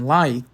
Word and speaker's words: light: En light, o GH é mudo.